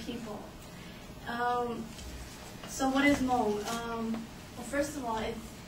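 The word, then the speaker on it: Hmong: cultures of M people um so what is Mo um first of all it's it's SP h m o but you pronounce it without the age so age of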